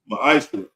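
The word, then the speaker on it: מעשר: In the Hebrew, it's pronounced ma'ashra.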